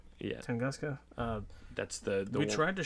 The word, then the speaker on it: Tunguska: Am I pronouncing Tunguska? Yeah. Tunguska.